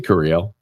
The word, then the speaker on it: Curiel: Yeah, I say Curiel. I put the emphasis on the cur, not the L.